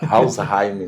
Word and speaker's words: Alzheimer: pessoal chama de Alzheimer os alemãos fica até preocupado que a gente chama de aam alsheim né Aim el sim a pronúncia assim é a pronúncia seria essa certo aí você sabe o